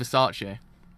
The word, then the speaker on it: Versace: I was like, was I mispronounced it the whole entire time? I actually was. So it's Versace.